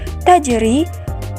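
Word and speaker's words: تجري: berada di tengah ayat sehingga ketika kita membaca kalimat tajri pantulannya tidak terlalu kita beratkan karena ia termasuk Qalqalah Sugra dan begitu juga pada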